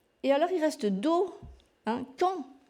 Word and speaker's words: quand: Et alors, il reste do, quand. Il y a un D qu'on ne prononce pas non plus.